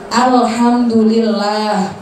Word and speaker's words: Alhamdulillah: Al gak usah dipantulkan sulit Allah kamu tidak Alhamdulillah itu kesalahan yang paling sering terjadi biasanya hal-hal